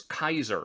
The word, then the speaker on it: Caesar: For instance, Kaiser in German, which is actually the correct Latin pronunciation of the name.